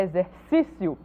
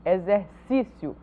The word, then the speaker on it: exercício: Veja bem, dá para diferenciar o ponto do acento, a palavra exercício tem acento agudo nesta sílaba aqui, nesse primeiro si, exercício.